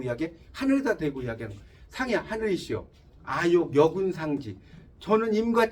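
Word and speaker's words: 上邪: 자, 그게 상야라는 시예요. 상야. 이거 읽으라고 했더니 상사에는 무식하다고 그래요. 이때는 야라고 읽어요.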